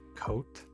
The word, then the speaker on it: Kotal: The light Kotal. Or I suppose people have told me it's pronounced Coat.